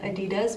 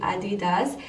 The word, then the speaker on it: adidas: and created adidas and fun fact we Americans pronounce it adidas which is it's not the right way it is actually Andy does and that is basically because Adolph had a